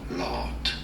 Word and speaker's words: Lotte: Lot. Yeah, the E is silent.